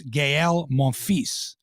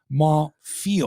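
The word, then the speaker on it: Gaël Monfils: for over a decade if you don't know how to pronounce gael monfisse and you pronounce it ma feel or whatever monthly monthly yeah all you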